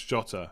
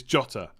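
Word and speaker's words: Jota: do you mean yeah i definitely pronounce jotter it's jotter nothing more to it um is there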